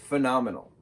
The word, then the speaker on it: phenomenal: Phenomenal. 4 syllables.